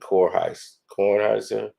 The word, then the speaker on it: Kornheiser: I know it was Michael Wilborn and Kornheiser.